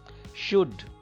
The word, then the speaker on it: should: Should. It is not should. Should. L is silent here.